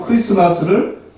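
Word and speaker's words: Xmas: 또 크리스마스를 크리스마스라고 하잖아요. 쓸 때는 이렇게 엑스마스 이렇게 쓰는데 이걸 X라고 읽지 않습니다.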